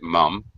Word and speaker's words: mum: Mum with a U is common for British speakers, and they pronounce it mum.